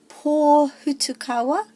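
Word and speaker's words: Pōhutukawa: And the 2 new ones, pō hutukawa, pō hutukawa, so the pō has the emphasis, and no macrons on the other one.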